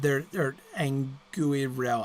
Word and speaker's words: Anguirel: Anglachel and Anguriel and Anguirel. I have never been able to pronounce that stupid sword's name properly. Anguirel, because the UI is not really diphthonged, really. So that should be 2 syllables, right?